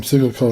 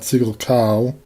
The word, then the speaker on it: Siggelkow: family from Wisconsin, and that's how he pronounces last name, Siggelkow, not Siggelkow.